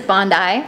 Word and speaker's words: Bondi: Her name is Bondi. That's how it's pronounced. It's after Bondi Beach in Australia.